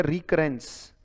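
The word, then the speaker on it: recurrence: रिकरेंस, री कैसे पढ़ा, कर कैसे पढ़ा वो याद रखो, और एंस कैसे पढ़ा, ई एन सी ई तो एक साथ पढ़ा जा सकता है, रिकरेंस। तो उच्चारण बन गया रिकरेंस।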